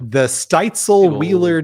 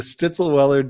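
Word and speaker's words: Stitzel-Weller: The Steitzel Wheeler Distillery created the did that go over your head? Wheeler. The Stitzelweller Distillery created the Van Winkle selection for the 2007 Kentucky Bourbon Festival.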